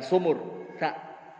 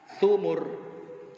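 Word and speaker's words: ثمر: Bukan sumur, thumur.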